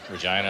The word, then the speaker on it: Regina: Regina. I like vagina, man.